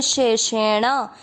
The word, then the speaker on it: शेषेण: देखिए श है और फिर षटकोण वाला शे है, दोनों का उच्चारण अलग रहेगा, शे शे और न में मिक्स करेंगे शेषेण।